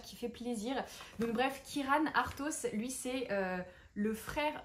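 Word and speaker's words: Ciaran: en fait ça s'écrit siaran mais ça se prononce Kiran il y avait la petite note de bas de page qui fait plaisir donc bref Kiran artos lui c'est le frère du prince du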